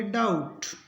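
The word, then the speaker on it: doubt: ओ यू बी टी तो इसमें बी के बाद टी है इसका मतलब बी का उच्चारण नहीं होगा और टी का होगा इसको पढ़ेंगे डाउट डी ई बी टी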